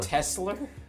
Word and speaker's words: Tesla: Kesler yeah in austr it's a Tesla tesler I feel like tesler no tesler yeah yeah it works it depends on like which area like Southern Australia they totally pronounce it like that yeah see don't laugh